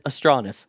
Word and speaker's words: Astranis: so and yes again as we were told by the company themselves it is astris so Chris check your pronunciation again we say this all